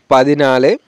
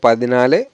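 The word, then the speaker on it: പതിനാല്: একইভাবে এখানে নালে আনজি এরকম করে উচ্চারণ করতে হবে। 14কে বলবো পাদিনালে। 14কে মালায়ালাম হবে পাদিনালে।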